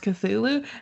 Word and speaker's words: Cthulhu: And I'm like, "Dude, just admit that it's phonetically would be pronounced Cthulhu." And the way that you're trying to make it sound just doesn't exist and it doesn't matter.